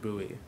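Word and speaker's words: Bouie: uh for slate there's there's actually no aent it's just buoy I'm sorry very American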